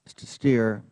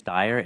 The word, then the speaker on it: Steyr: just take two seconds the name is steyr it looks like steer but parents decide pronunciation so I thank you